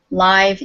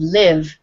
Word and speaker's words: live: Okay, so one is live is an adjective and live is a verb.